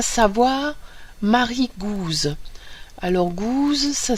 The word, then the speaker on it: Gouze: Alors Gouze, ça s'écrit G-O-U-Z-E.